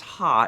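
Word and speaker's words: ห้า: egg kitsune fun fact the number five is pronounced as ha in the thai language so when typing uh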